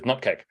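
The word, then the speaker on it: nupkg: So CCR is what I refer to as the correct way of saying Chocolatey Community Repository, much like the correct way to say Nupkeg is Nupkeg.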